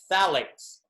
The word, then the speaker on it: phthalates: is something called phthalates the ph is silent so it's phthalates or also known as